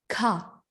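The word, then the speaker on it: ㄱ: Yang pertama ini ada huruf giok, dibacanya itu ka, ka, ka, ka, ka, gitu.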